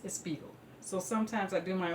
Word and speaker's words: Spiegel: say to me, Linda, it's not Spiegel, it's Spiegel.